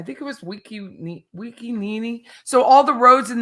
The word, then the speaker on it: Nene: Circle or Boulevard in this neighborhood it's n ne ne and it's pronounced Nene and Scott Reed did it the